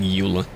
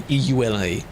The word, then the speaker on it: EULA: I don't say it like uler. The eula.